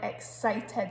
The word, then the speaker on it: excited: So if you skip out that C and write E-X-I-T-E-D, which in your head probably sounds like excited, you get exited and it's a completely different word. So like I exited the building, but we want excited, so we want that soft C, excited sound in there.